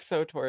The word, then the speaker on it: SWTOR: I think SOTOR is the generally accepted pronunciation, but also, right, I think we're adding an O in that pronunciation that doesn't exist.